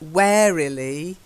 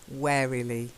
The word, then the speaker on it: warily: you were quite right warily not we're really wearily merrily yeah because it looks like a warden lee waddly yeah but we don't we do say war but it's you're wary if you're wary you're a little scared so for example my